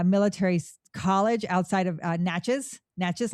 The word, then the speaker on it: Natchez: Natches like matches. I always try to remind people how to say it.